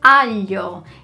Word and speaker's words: alho: Same with the word for garlic, which is alho. Instead of alho, I hear alho.